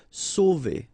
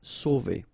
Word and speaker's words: sauver: Sauver. Okay, remember when you combine A and U, you get the sound O. So really like the letter O. Okay, so sauver, sauver.